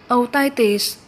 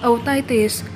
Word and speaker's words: otitis: Danh từ số 1 được đọc là otitis, nhấn âm 2. Và danh từ số 2 được đọc là media, nhấn âm 1. Mình xin nói lại là danh từ số 1 đọc là otitis, nhấn âm 2.